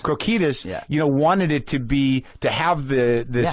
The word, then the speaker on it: Krokidas: Krokidas. Krokidas, wanted it to have the sort of intensity and the rawness of something really happening.